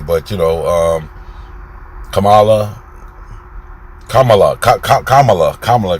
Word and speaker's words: Kamala: but you know um kamala kamala kamala kamala because she said all you think of comma and ad law kamala um harris vice